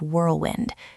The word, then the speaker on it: whirlwind: Your lips should be round for the W.